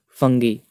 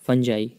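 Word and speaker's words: Fungi: तो मोनेरा और एक फंगी या फंजाई, जो भी आप प्रोनाउंस करते हो इसको, फंजी या फंगाई, कवक बोलते हैं जिसको हिंदी में।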